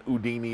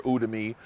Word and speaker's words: Udemy: Some guys I've seen have like 20 courses on Udemy or Udemy, however you want to pronounce it, and they don't even have to advertise.